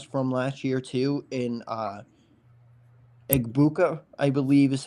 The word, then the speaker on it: Egbuka: You have arguably the best wide receiver to come out of the draft class from last year too in Egbuka, I believe is how you pronounce his last name.